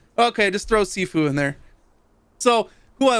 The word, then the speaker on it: Sifu: Sifu.